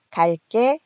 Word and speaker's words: 갈게: 정리해 보면은요, 갈게, 갈 거야. 관형사형 어미 을 뒤에서 된소리로 발음이 나고 있습니다.